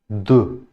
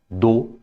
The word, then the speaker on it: deux: Deux. This is not do, this is deux.